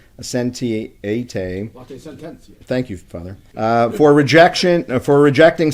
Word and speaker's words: Latae Sententiae: Is not a pope excommunicated Latae, I'm going to pronounce this wrong, Sententiae. Latae Sententiae.